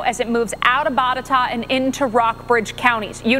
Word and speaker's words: Botetourt: And I can always rely on my phone-a-friend Twitter to tell me helpful pronunciations. It's Botetourt County there in the state of Virginia, now moving into Rockbridge.